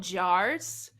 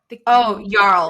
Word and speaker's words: Jarl: Okay, I think they're called Jars. Jarls. Like Jarl.